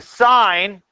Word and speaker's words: sine: So when you see S-I-N, please don't say sin. Okay, we talk about that in church.